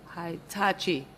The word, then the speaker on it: Hitachi: Were you involved with the tender that was awarded to Acha, I'm sure I'm pronouncing this wrong, Hitachi, what is it? Hitachi, Power Africa.